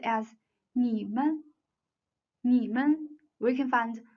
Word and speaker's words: 你们: And the third word 你们, 你们. 你们 is the plural form of you. 你 has the third tone, and 们 has no tone mark. So 你们 together should be pronounced as 你们, 你们.